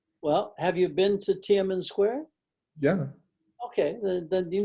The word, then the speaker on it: Tiananmen: How do you pronounce it again? Tiananmen.